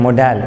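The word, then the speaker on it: modal: और some times वो मॉडल verb से भी स्टार्ट हो सकते हैं most of the people miss pronounce this word they miss pronounce this word मोडल मोडल verb नहीं होता मॉडल वर्ब होता है सो कंफर्मेटरी इंटरकट क्वेश्चंस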